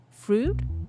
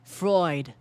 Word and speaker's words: Freud: Fruit? No. Fred. Freud? Google. I need your help. Freud.